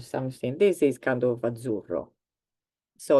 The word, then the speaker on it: azzurro: Some words with the sound z is azzurro. Azzurro is a color. It's a kind of blue. I can't find. Oh, there we've got something. This is kind of azzurro.